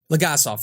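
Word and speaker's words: Legasov: uh uh leg saw uh Legacy oh it's pronounced something different my bad um Valerie whatever lagassoff thank you they told him hey blame it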